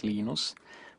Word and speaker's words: Linus: came along linus or linus what's exactly your preferred pronunciation um when i speak swedish it's venus when i speak finnish it's linos when i speak english it's linus and i really don't